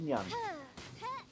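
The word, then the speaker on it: Xinyan: Zinyan. Japanese pronounce X's as a Z.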